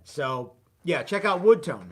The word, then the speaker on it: Wudtone: There is a product called Wood Tone, and it's spelled kind of funky. WUDTONE, but it's WUD, Wood Tone.